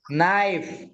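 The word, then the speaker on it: knife: head hanger hanger নি নাইফ নাইফ নাইফ knowledge মনে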